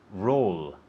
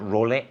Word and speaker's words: roll: Roll. Roll. How do you say that? Roll. Okay, Roll. and in English? In Spanish, papel. Papel. Okay. Roll. Not role, roll.